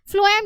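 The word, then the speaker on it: phloem: xylem में आपका, फ्लोएम याद रखना पीएच, जैसे तो स्पेलिंग पीएच है पर फूड फ से, तो फ्लोएम में आपका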